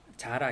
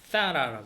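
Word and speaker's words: Zara: 그래서 우리 자라 있죠, 자라를 스페인에서는 사라라고 그러더라고요. 사라.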